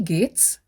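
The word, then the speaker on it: geht's: short version is we gates the we w i e like in we in english w e means how get g e h t pronounced as g-a-t-e in english comes from gehen which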